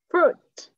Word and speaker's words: fruit: Fruit. Cong lên. Cong lưỡi lên.